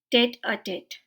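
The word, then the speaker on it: tête-à-tête: French phrase है और इसे हम प्रोनाउंस करते हैं टेट अ टेट टेट अ टेट और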